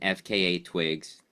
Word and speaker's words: FKA twigs: It's Nicolas Cage and FKA Twigs. That's right. That's how you say it, right? You say the letters, right?